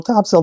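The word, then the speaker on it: Topsail: I I'm seeing here top sale, top cell, not top sale.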